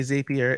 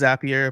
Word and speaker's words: Zapier: Some people say Zapier. It's Zapier, makes you happier. That's how I remember how to say it.